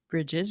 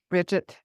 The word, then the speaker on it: Brigid: goddess, which I call Brigid or Tora. How did you said there's different ways to pronounce her name? There's lots of different ways of pronouncing her name. Bridget is one, Brigid, Breed, Mhm. Brigid.